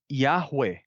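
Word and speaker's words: Yahweh: de sons etc o o Consenso geral né não luto mais geral é que a pronúncia seja yahu yahu essa seria a pronúncia original yahu eh e aí como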